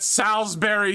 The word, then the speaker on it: Salisbury: We call it Salisbury steak. It's pronounced berry despite the U.